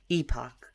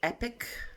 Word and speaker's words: epoch: Epoch. However you want to pronounce it, I believe both are acceptable. I've also heard epic as a way of pronouncing it.